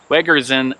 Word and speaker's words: Wegerzyn: concrete bench here at wegerzin gardens good job i pronounced it right wedgers and gardens and we're going to